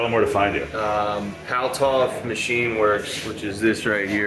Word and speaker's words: Paltauf: I was saying his last name wrong. There's no U in the first part, it's just Paltauf.